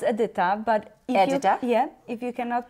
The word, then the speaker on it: Edyta: Is that how you say your name, Edyta? Yes, it's Edyta, but if you cannot pronounce my name, you can call me Sweetheart, Doll, or there Honey.